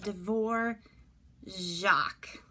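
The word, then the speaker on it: Dvořák: name and it doesn't really look like Dvorak but that's what it is that I don't even know what they call that over the R but it's a Devore Jacques there's no J he pronounced his name and he was another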